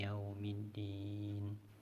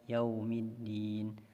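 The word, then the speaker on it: يَوْمِ الدِّينِ: Ayat 4 untuk huruf sukun yang kadang-kadang kurang sempurna terbaca huruf wawu. Maka ketika huruf waw sukun sekarang, maka monyongkan bibirnya. Kadang-kadang kita baca hanya sekedar saja yaumiddin, harusnya yaumiddin. Kalau bacanya maliki yaumiddin, bisa saja huruf waw ini berhenti atau kadar huruf waw itu monyongnya kurang. Kita baca maliki yaumiddin.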